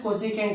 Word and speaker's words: cosecant: So, see here for our convenience, this cosecant is short notated as cosec. Okay, now but we have to pronounce it as cosecant only.